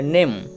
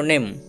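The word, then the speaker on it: name: হলো ম তাহলে জন্তেন এ আর ম তাহলে নেম কিন্তু ইটা সাইলেন্ট থাকে উচ্চারিত হয় না তাহলে এন এ নে এক্ষেত্রে এ ভয়েটি এ হচ্ছে তাহলে এন এ নে আর এম এ ম তাহলে হয়ে গেল নেম কিন্তুইটা সাইলেন্ট থাকে এর উচ্চারণ হয় না নেম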